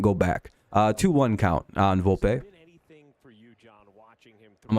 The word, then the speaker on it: Volpe: All right, I was saying it right. I was saying Volpe right.